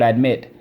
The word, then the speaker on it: admit: Again, notice the word admit. We have 2 syllables. We have 1 vowel at the end. We have 1 consonant at the end, or at the last, in the second syllable.